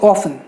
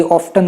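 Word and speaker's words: often: कुछ silent letters है, जैसे ऑफन, ऑफन में टी साइलेंट है। कई लोग आपको बोलेंगे कि यार आपको अंग्रेज़ी नहीं आती, ऑफ्टन कहा जाता है, ये बिल्कुल ही गलत है। आप गूगल पे सर्च करके देखिए, इट is called as ऑफन, ठीक है। एजुकेशन, ऑफन, यही करेक्ट प्रोनाउंसिएशन है।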